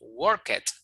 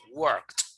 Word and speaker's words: worked: Pero si yo le añado ed, entonces la pronunciación sería con T, ¿ya? Sería con T. Entonces, no pronunciaríamos worked, como dirían algunos, ¿no? Sino worked, worked.